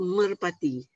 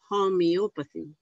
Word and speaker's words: homeopathy: Dan ada juga orang sebut merpati. Jadi rawatan merpati, mopati apa semua. Tapi the real pronunciation is homeopathy.